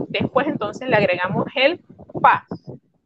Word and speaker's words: pas: Y después entonces le agregamos el pa. Le estoy pronunciando mal. Es pa. La S no se pronuncia.